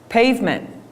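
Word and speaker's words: Payvment: Pavement. You can sell on Facebook now. So now, and it's spelled kind of funny because that is how it's spelled.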